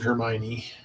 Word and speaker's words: Hermione: And that's how she pronounced it, was Hermione, so that's how I pronounce it.